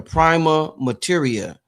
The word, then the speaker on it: prima materia: about this term, the prima materia. Prima matter. What Yeah. prima? How do you say it exactly? Because It's they say actually pronounced prima mater.